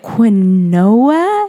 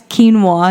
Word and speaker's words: quinoa: the quinoa is and she was like quinn noah and i spelled it out for her she goes that's quinoa and i was like okay